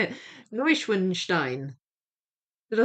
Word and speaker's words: Neuschwanstein: Neu Neuschwanstein. I'll say it. Neuschwanstein.